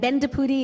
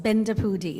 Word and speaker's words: Bendapudi: It's Neely, and Bendapudi is 4 syllables. Bendapudi.